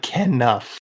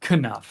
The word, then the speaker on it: Knuff: you pronounce it like Ken Nuff. Ken Nuff, as in Ken Ken. Nuff. Ken Okay. Nuff. Not Knuff.